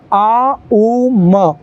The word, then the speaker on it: ओम: आपको उच्चारण करना है ओम का उच्चारण सीधे ओम के रूप में नहीं बल्कि इसका सही उच्चारण होता है आ उ म क्योंकि इन्हीं तीन ध्वनियों को जोड़कर ओम बनता है तो आपको इसकी प्रैक्टिस